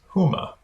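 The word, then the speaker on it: Hema: has introduced a new retail comp concept it's pronounced Huma and you can find a link to it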